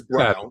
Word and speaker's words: Braun: It's spelled Braun, but it's Brown.